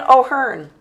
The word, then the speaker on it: O'Hearn: Batting DH for the American League, Ryan O'Hearn. I'm saying it right, too. Yeah. O'Hearn.